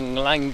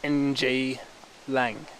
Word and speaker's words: Nglang: It's kind of different to pronounce for, you know, other languages, but yeah, NG Lang. So I can imagine it's pronounced Nglang.